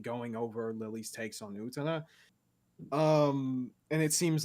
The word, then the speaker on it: Utena: Because nobody who watches Utena as an adult sees a revolutionary step forward in gay rep and anime.